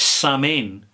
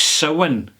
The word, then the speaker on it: Samhain: Dingle Distillery, and it's called, well, it says Samhain, but that's not the way you pronounce it. It's Samhain is the way you pronounce it. But it says Samhain to me, and that's the way I pronounce it.